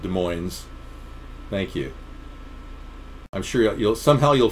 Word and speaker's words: Des Moines: Yeah, so they walk around and they don't say the S. Because they don't have fluoride. Right. Thank you. No fluoride in Des Moines, everybody.